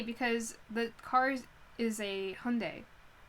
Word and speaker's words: Hyundai: In English, we call it Hyundai, but it's actually Hyundai, and I'm pretty sure it's Hyundai, technically. Like, it's a Korean car, and the way you would pronounce that is, like, Hyundai. But we just don't, for some reason, here.